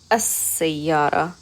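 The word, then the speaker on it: السيارة: So we're not saying al, we're saying as-sayyara.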